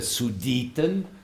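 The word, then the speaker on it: Sudeten: which is called the Sioux Deaton soo didn't you you spell it capital as u DD T E and in this sued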